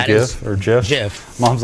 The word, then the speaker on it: GIF: that you want right there I believe they're pronounced jfy gifs I don't think so Jiffy no it's a gif cuz it's graphical oh